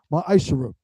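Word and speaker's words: מעשר: tithes which is a commandment you can find this in numbers 18 to 21 and Malachi chapter 3 8-10 means 10th in Hebrew and is pronounced maisher 10% of every penny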